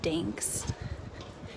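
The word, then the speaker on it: Gdańsk: I'm in Poland and guns which I thought the G was silent and the g is not silent so it's ginks gin Poland and it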